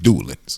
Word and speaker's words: Dulan's: Dulan's. I keep saying Dulan. I be putting too much, Giving him a little culture. Putting too much French emphasis on his name. Ain't where he from. It's just Dulan's.